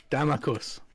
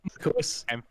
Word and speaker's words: Damakos: Damakos. Okay. Damakos. Emphasis on the first A.